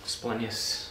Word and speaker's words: splenius: get wrinkly cuz the splenius is under here splenius sorry I always get that wrong splenius let the greatest latin pronounce her stay there there we go alright